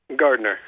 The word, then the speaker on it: Gardiner: Gardner.